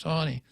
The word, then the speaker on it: Taney: I rather pronounce it Taney because it looks like Taney but it's actually pronounced Tawny Roger Taney and a citizen as